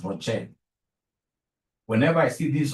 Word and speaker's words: ROCE: Whenever I see ROCE, please don't pronounce this as Rose. Rose is my sister. Rose is your mother. Professionally, we pronounce this as ROCE.